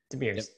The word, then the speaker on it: Demirors: How do you pronounce her last name? Demirs. Demirs? Oh, that's simple. We brought on Meltem Demirors, who brought the receipts.